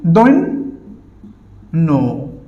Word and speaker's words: দৈন্য: এবং বলেছিলাম যে জ ফালা যদি শেষে থাকে তাহলে কি যে বর্ণের সাথে থাকে সে বর্ণ দ্বিতীয় উচ্চারণ হয়। তাহলে এখানে নর উচ্চারণ কয়বার হবে দুইবার হবে, অর্থাৎ কি দৈন্য।